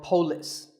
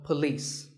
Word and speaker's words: police: number six is police this isn't police or polis it's paw and beliefs with the stress on lease so police the next word is